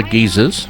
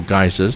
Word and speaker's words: geyser: bubbles from the ground all other geezers or geysers depending on your pronunciation and named after the